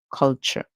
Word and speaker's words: culture: CH and then culture so the t is actually making a c It song and you may find that in a lot of words like picture capture all those words you'll hear the T making a CH song that's why you might